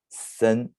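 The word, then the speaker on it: 森: that it's it's forest the pronunciation is sen it means boots or forests that's combined ideograms the fourth one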